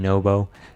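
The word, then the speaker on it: Nwpo: Nupo just ran away with it. Sorry, I should be saying Nobo. Nobo is how it's pronounced apparently.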